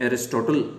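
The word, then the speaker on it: Aristotle: एक और यूनानी चिंतक विचारक अरस्तु, जिनको प्रोनाउंसिएशन इंग्लिश में एरिस्टोटल करते हैं, अरस्तु ने अधिक स्पष्ट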